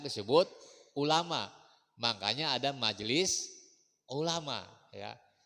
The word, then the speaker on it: ulama: Kalau ulama pakai ain itu orang-orang yang alim. Tapi kalau ulamanya pakai alif itu orang-orang yang sakit. Ya, jadi jangan salah mengucapin ya, jangan salah pengucapan. Jangan ulama, tapi ulama, ain ya.